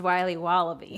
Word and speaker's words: Wiley Wallaby: Wiley's wallabies wallaby Wally's will be wobba beats pronounced Wiley wallaby well it's very good is called Wiley wallaby